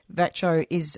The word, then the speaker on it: VACCHO: response that you're talking about, because I know VACCHO that's how you pronounce it, isn't it?